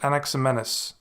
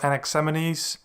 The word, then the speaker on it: Anaximenes: And next week, we will continue our investigation of pre-Socratic philosophers and have a look at Anaximenes, or Anaximenes, pronunciations differ.